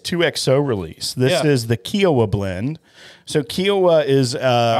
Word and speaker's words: Kiawah: uh uh kioa K what's kioi Island it's kioa Island that's how it's spelled k I've always we've always called it